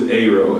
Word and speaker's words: Areaux: So Areaux is like a creative spelling of my first and last name. So you got A, see that, A, and then row. But then I spelled it French.